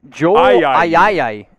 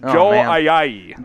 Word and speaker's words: Ayayi: This one looks simple. It's not. So go ahead. Joel Ayayi. Close. I've heard close a lot. It's Joel Ayayi. Ayayi. Yes. Joel Ayayi. Joel Ayayi. That is how you pronounce his name.